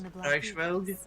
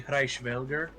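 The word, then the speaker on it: Hresvelg: So, Oh, the way she pronounced it is Reichsvelg, but it's actually Reichsvelger.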